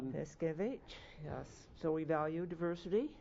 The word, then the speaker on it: Paskewicz: I know, it should be Paskewicz. Paskewicz, yes.